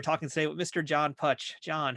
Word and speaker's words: Putch: Look, my side of the family, we pronounce it Putch, but my Pittsburgh relatives, they all say Putch, which I don't understand because it's an Italian derivation. The name was Pucci originally, and it was changed